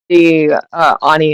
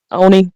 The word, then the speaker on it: Oni: So when the Ani is summoned, Oni, how am I pronouncing Oni. this? How am I supposed to pronounce this? Oni?